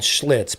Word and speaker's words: Schlitz: There's a reason it's called schlitz because it rhymes with shits.